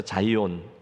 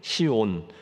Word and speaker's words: Zion: 마지막 글자인 Z 이고요 아 그래서 자이온 한국식 발음으로는 시온 새 예루살렘을 주제로 해서